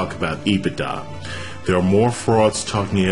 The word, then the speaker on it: EBITDA: EBITDA, pronounced EBITDA, is a modification of the profit formula.